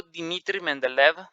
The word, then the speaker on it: Dmitry Mendeleev: de Newland, por el profesor de química ruso Dmitry Mendeleev. Así se pronuncia.